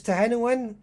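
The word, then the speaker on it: Tehenhauin: right here we go i love sotek insisting on pronouncing te hanowan uh is 10 in 10 in one i mean it's to hennewen i i have noticed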